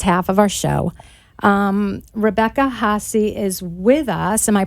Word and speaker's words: Hahessy: Rebecca Hahessy is with us. Am I pronouncing your name? Yes. Yes, you're good. Rebecca Hahessy.